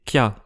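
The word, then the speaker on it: きゃ: Donc par exemple, ça c'est ki-ya, 2 syllabes, et ça c'est kya, 1 syllabe.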